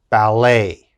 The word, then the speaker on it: ballet: e d e t now in french when we're speaking french e t has a a sound a so let's look at the first word now we would pronounce this ballet ballet and of course ballet is